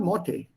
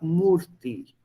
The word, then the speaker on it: Murti: I am called Morte. I tell them, Entschuldigung. Also das Wort Morte verstehe ich nicht. Ich heiße Murti.